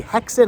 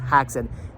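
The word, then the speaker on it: Häxan: this Barnes & Noble does have the the hexen or or haxon somebody let the comment down below saying the movie was pronounced it is it is pronounced haxon H ax a an so apparently they have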